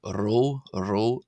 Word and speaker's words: ⲣⲟ: Uh we then have the letter row. Row row. This is like the R in the English word, right? So, it's an R sound.